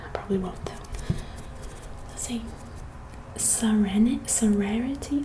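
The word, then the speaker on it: Sarenity: Let's see, Serenity, like it's Sarah, but like Serenity, like spelled with S-A-R-A and then inity.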